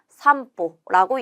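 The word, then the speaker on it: 散歩: 이때 흩을산은 산이라는 음독으로 읽고 걸음보는 보라는 음독으로 읽는데 여러분 하나 체크하도록 할게요. 이라는 발음 뒤에 하행이 오게 되면 이 하행에는 반타금이 붙게 됩니다. 그래서 지금 호에 반타금이 붙어서 어떻게 읽는다? 산보라고 읽는다.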